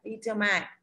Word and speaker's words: determine: Determine. Trọng âm rơi vào thứ hai.